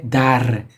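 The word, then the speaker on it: در: The tip of my tongue fluctuates between my teeth. Dar. This is the thing that English-speaking folks omit, especially Americans. I mean, the English, they don't pronounce the R really, but with Americans, if they were pronouncing this, they would say dar, dar. That's the difference. I say dar, r. So it's like a snake sound or something.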